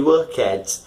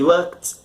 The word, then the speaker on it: worked: You know, usually foreigners and non-native speakers of English tend to pronounce ed as a separate syllable, but it's not a separate syllable, you know. You don't say worked, no, you say worked.